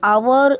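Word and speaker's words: hour: एन एन आवर is silent.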